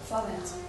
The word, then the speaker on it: Vorwärts: pueden pronunciar ellos mejor, sería algo así como Vorwärts, ¿no? Más o menos. ¿Cómo se dice? Vorwärts. Bueno, ella lo dijo mejor.